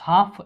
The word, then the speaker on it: half: हाफ इससे L silent होता है और हाफ बोलते हैं इसे।